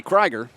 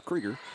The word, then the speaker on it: Kriger: the line will be Maddie Kiger kriger excuse me used to work with a newscaster in Columbus Georgia named Karen Anne Kiger she pronounced it but it's kriger and she connects and